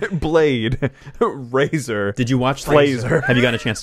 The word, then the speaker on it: Fraser: Fraser, yeah. Yeah, so it's like laser or razor.